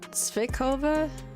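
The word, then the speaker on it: svíčková: How do you pronounce it? Svichova.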